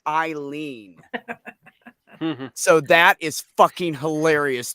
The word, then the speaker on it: Eileen: And everybody pronounced it wrong. They'd say Aileen or Arlene. And she'd say, no. And she'd lean on the wall and go like, Eileen.